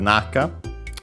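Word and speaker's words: 中: Uh then we have naka. We have seen it often. Uh this one is the uh most typical one accented on well both are accented on the first syllable.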